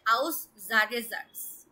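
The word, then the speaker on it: Aussagesatz: তো আজকে হচ্ছে আমরা অ্যাসার্টিভ, এটা হচ্ছে আউসজাগেসাটস। প্রনাউন্সিয়েশনটা করুন আপু। আউসজাগে, আউসটা আলাদা প্রনাউন্সিয়েশন করুন। এই যে এইটুকু হচ্ছে আউস, তারপর এস সিঙ্গেল থাকলে জয়ের মতো উচ্চারণ হবে আউসজাগে। জাগে, জাগে, জাটস।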